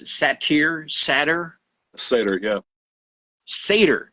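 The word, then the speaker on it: satyr: out to be as as how do you pronounce it saer Sater Sader yeah Sader not sat not saer not satire but seder who is H H half man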